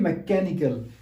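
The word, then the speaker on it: mechanical: दूसरी है मैकेनिकल। मैकेनिकल में H तो साइलेंट है, इसकी तो आवाज नहीं आती, ठीक है, लिखना जरूर है लेकिन।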